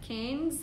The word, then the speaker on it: Cairns: We're in Cairns right now, and I'm still trying to get the pronunciation right because it's like Cairns meets Can, like Cairns, if I'm saying it correctly.